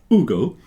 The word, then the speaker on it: Hugo: I won't pronounce the H because I presume he's French without an H. Hugo.